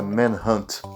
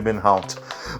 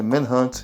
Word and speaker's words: Manhunt: Só deixando claro, a pronúncia correta do jogo é Manhunt. Mas talvez você, assim como eu, pode ter ouvido em algum momento pessoas chamando de Manhunt. Mas a pronúncia correta é Manhunt, então por bom senso